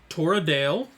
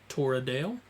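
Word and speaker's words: Toredael: age lthio had two sons twins we had toradale which is t-o-r e d a e l torodale and his twin brother syphadale which is s-i-f-a-d-a-e-l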